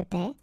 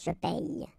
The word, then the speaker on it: paie: Okay, and in that case it's quite funny because we tend to make the difference maybe in pronunciation. So between this one, je paie, and then some persons can pronounce je paye.